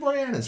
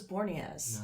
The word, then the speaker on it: Boreanaz: I always thought it was Borneaz. No, it's Boreanaz.